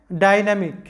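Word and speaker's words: dynamic: ডাইনা, এম আই C, Mick. I এর আগে পরে যেহেতু কনসোনান্ট আছে তাই আই এর উচ্চারণ হবে ই, এরকম ই বা বাংলায় রস্বইকারের মতো, তাই আমাদের উচ্চারণটা হবে ডাইনামিক, ডাইনামিক, এরকম ডাইনামিক, যেটার বাংলা অর্থ হচ্ছে প্রগতিশীল।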